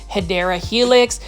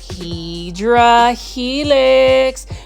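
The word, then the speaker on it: Hedera helix: English ivy or the correct way to say it is hyera Helix um for my viewers that are just discovering my channel especially for the ones that tuned into my plom videos I purposely mispronounce um hadera Helix as HRA Helix because it is one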